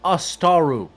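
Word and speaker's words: Ásatrú: Currently, three counties are Astaru. That's the correct pronunciation, by the way.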